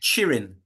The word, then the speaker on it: Txirrin: T X T X I double R I N and it's pronounced Txirrind.